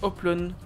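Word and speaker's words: Hoplon: Ça se prononce Oplon, c'est du grec. Ah, pardon. Je le dirais Oplon, du coup.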